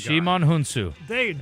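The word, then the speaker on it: Djimon Hounsou: Shimon Hunsu.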